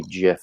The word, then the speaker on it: GIF: So I've always said GIF, but apparently you're supposed to say GIF. I've been saying it wrong all these years.